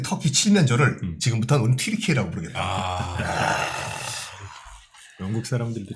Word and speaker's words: 튀르키예: 그러니까 약간 그런 분위기 가운데서 아예 그냥 원래 우리의 발음인 튀르키예로 바꾸자 해서 바꾼 건데 참 영국도 사랑합니다.